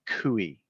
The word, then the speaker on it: CUI: on facebook is actually kui kui because it sounds so much like gui yeah well i'm they're